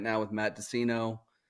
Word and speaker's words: Deseno: your last name uh it's dinino it's like Cino with a d okay so like they're afraid to be like yo what's up I'm on a podcast right now with Matt dinino H Pro Tools this